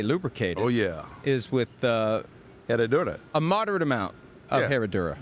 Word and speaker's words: Herradura: Herradura.